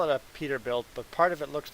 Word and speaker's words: Peterbilt: If you look in the Peterbilt history, it's a bird. I can't forget what bird. I forget what bird it is, but Peterbilt. Did I say Peterworth? Peterbilt. Great.